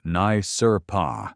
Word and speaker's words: NYSRPA: That dynamic should ring a very loud bell if you've been following Second Amendment litigation since NYSRPA, pronounced Nye Sur Pa, ver and Bruen.